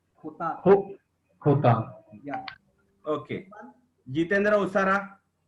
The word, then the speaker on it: jota: J, Jota, J is pronounced as Kh. Khota.